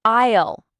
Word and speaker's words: aisle: Second, the word aisle. Remember the S is silent is the name for each row or section in the supermarket.